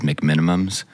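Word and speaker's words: McMenamins: Everyone that I know says McMinimums. Oh, yeah, that's true. But it's spelled McMinimans. That's true.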